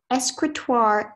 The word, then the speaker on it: escritoire: Escritoire is French from Middle Latin.